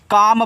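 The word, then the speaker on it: calm: सी ए एल एम इसको काल में नहीं पढ़ना है इसको काम पढ़ना है काम तो सी से का ए से आ का मात्रा और यहां पे आपका एल साइलेंट रहेगा एम से आप कामा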